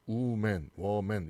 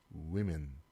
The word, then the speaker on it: women: 그러니까 뒤에 있는 이가 이 발음으로 바뀌죠. 그래서 woman 이런 발음이 아니라 women. 좀 연습해 보세요.